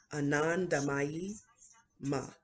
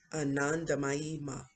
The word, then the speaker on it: Anandamayi Ma: Okay, I think this is pronounced Anandamayi Ma. Anandamayi Ma.